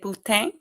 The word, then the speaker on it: poutine: The poutine or Chile cheese fries? poutine all day, but I am going to say How do you say that?